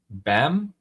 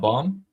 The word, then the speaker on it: Bam: Uh, Don Kman Sha is saying Ali John is pronounced BAM. I know, not Bomb.